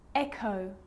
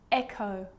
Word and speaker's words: echo: The H is silent. So it's choir, choir, echo, echo. With a G, ghost, ghost.